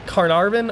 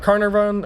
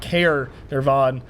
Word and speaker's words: Carnarvon: It's technically Carnarvon. I've looked up the pronunciation, or Carnarvon, or however you want to technically say it. It's one of those things of it's up to interpretation, but I do know it's not Cairnarvon, despite the spelling leading to that.